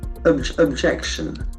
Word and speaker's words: objection: Objection. Objection. Okay, objection. Can see the accent falls to the second syllable.